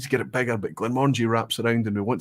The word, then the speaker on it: Glenmorangie: Glenmorangie is not the correct pronunciation because it's Glen is valley, Mor is large, and apparently the whole thing together, Angie at the end, is Glen of Tranquility, famously from the adverts.